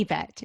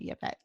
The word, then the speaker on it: Yvette: It's actually Yvette, is how you pronounce it, but I'll answer to Yvette.